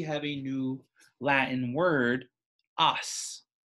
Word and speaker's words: os: a new Latin word, os, O-S. I believe it might actually be pronounced os in the old Latin, but we are pronouncing it os in English.